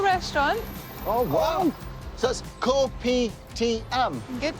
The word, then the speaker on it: Kopi Tiam: So that's Kopi Tiam. Good pronunciation.